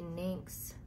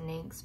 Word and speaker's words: NYX: I'll be honest, I was using a NYX concealer, and I'm not sure how other people pronounce that, but I pronounce it NYX, but it's NYX, and the concealer by